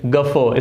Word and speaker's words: guffaw: Next हमारे पास word है number 2, गफो। गफो। Okay, कैसे इसको प्रोनाउंसिएट करेंगे, कैसे इसको पढ़ेंगे? गफो, स्पेलिंग में GUFFAW, गफो।